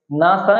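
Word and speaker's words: NASA: এটা হবে এব্রিভিয়েশন এবার দেখো দ্বিতীয় নাম্বার রয়েছে নাসা খেয়াল করো উচ্চারণটা খেয়াল করো নাসা এটাও কিন্তু একটা সংক্ষিপ্ত রূপ তবে নাসাকে কি আমরা এন এস এভাবে কিন্তু পড়িনি আমরা এটাকে নাসা একটা ওয়ার্ড আকারে পড়ছি একটা শব্দ আকারে এটাকে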